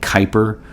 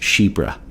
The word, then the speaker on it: chypre: this one is c-h-y-p-r-e so it looks like Kuiper or chipper in English but it's actually pronounced shebra so this is a Shipra a classic Shipra and what does that mean